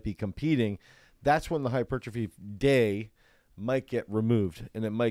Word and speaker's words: hypertrophy: hypertrophy day. How do you say that word again? Earl says it hypertrophy.